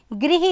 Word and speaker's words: गृह: ग्रह कार्य देखिए अधिकतर लोग इसको बोलेंगे ग्रह कार्य जबकि यह ग्रह कार्य नहीं है इसमें ग में री की मात्रा है तो यह क्या ग्री जब ग में री की मात्रा तो यह बन गया ग्री तो यह शब्द बनेगा गृह कार्य तो यह भी बच्चों